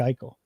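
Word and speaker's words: Eichel: E I C H E L is how you got to spell it, right? Jack Eel, correct? Oh boy.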